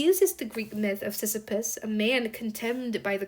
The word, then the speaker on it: Sisyphus: Is it Sisyphus? Sisyphus. It is Sisyphus.